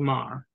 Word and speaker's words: Maher: Bill Maher, spelled like Mayer.